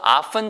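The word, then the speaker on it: often: 아픈 이렇게 기억하면 되겠어요 근데 이 발음이 치가 소리가 안나요 써 있기는 오프 텐 참 써 있잖아요 근데 그게 아니고 티가 모금 이에요 그래서 앞엔 그런데 이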